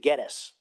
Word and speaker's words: Gettys: And we pronounce it Gettis.